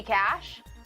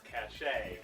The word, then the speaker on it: cache: It could be cash. What? We're not arguing that. We're arguing the pronunciation of the word. Cash, as in C-A-C-H-E. And you say it's cachet.